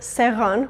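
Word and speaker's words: սեղան: Similarly, in the word seran, which actually means table, we're equally saying E and A.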